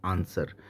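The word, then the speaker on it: answer: या या कि एस एस लेटर के बाद डब्लू आता है तो फिर हम डब्लू को साइलेंट रखते हैं मींस जैसे एग्जांपल की बात करते हैं आंसर ए एन एस डब्लू ई आर तो ये ऐसी सिचुएशन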